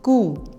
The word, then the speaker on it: coup: The correct pronunciation is coup. P is silent, so the word is not coup, it is coup.